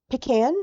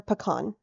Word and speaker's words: pecan: So, first, how do you say this word? Is it pecan or pecan? All right. Usually pecan.